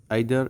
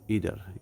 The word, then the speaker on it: either: যেমন আইদার এবং ইদার, EITHER। আইদার হচ্ছে ব্রিটিশ উচ্চারণ, ইদার হচ্ছে আমেরিকান উচ্চারণ।